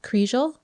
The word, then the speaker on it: Kriégel: home the couple's names were geraldine and patrick kriegel and that's how you pronounce his name but i know i'm going